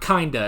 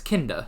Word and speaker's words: Kinda: you guys told me that that's how it's pronounced it's not kinda it's kinnda so yeah that's kind of cool okay um